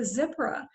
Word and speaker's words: Zipporah: pronounce moses wife's name is it zipra or is it zipporah or whatever it is i've looked it up it's a zipra but i must always pronounce it that way sure so would you